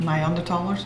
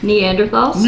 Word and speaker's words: Neanderthals: do you call it n under thers no say it right neanderthals yeah that word you